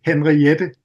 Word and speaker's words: Henriette: So I've really listened a lot to a Norwegian saxophone player called Mette Henriette.